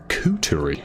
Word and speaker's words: coterie: Coterie, okay.